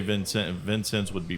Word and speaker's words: Vincennes: would you say Vincent Vincennes would be pronounced what in French how would you say that that's him always okay so you don't really put the S at the end no you don't okay